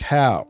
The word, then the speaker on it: Howe: one of this, what I thought was Jack Howe's lectures. And he told me in the email, phonetically, his name was pronounced Huff, Huff, unlike mine, which is pronounced Howe.